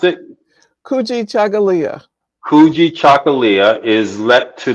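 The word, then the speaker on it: Kujichagulia: Green pronounce it, Kuji Chagalia.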